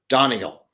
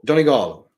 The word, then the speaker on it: Donegal: And of course, the traditional American way of pronouncing Donegal is Donegal. I went to Donegal. No, Donegal.